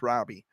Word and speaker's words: Robi: It looks like it says Robi, but it's pronounced Robbie.